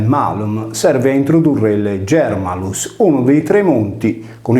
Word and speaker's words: Germalus: Intanto tale lessema è scritto Germanus, ma si legge Germalus con un suono velare non palatale.